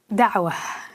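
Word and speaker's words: Da'wah: written this book about it the challenge of Dawa which I'm sure I'm mispronouncing would you just first of all pronounce it correctly and then tell us what it means Dawa is the way it's pronounced and what it means is to plead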